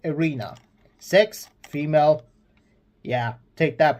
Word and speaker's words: Erena: Guardian Erena, which I was mistaken. I thought it was said Greena, but it said Erena.